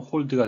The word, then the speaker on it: hold: 발음 하나 조심하실 것은요. 그냥 한글로 표현한다면 hold가 되겠는데, 예, 모음, 오는 예, 이중 모음이 돼서 hold 또는 hold가 되겠습니다.